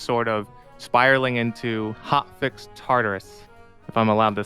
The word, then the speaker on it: Tartarus: time of just sort of spiraling into hotfix Tartarus, if I'm allowed to say that. Tartarus is a pony term, yes. Yeah. Okay. It's pronounced Tartarus.